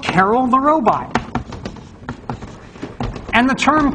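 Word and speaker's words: Karel: named after Carol and some people say Carl which is kind of actually closer to I believe if I don't know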